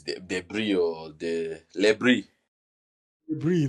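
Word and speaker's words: Le Bris: The All these guys, I can't pronounce their names. Debris or the Lebris. Lebris. Lebrie.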